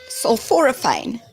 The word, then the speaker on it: sulforaphane: How do you spell it? So, SUL, sulforaphane.